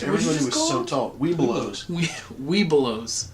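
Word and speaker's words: Webelos: Weebelows. Yeah, Weeblos, which is as you become farther up in the ranks, you drop a vowel or a syllable there in the middle.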